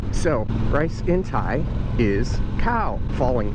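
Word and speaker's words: ข้าว: So rice in Thai is khao, falling tone, khao, falling tone, long vowel.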